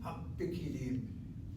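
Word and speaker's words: הפקידים: Hapikidim. That's how you should say it. Hap goes to the first syllable, and pikidim starts the second.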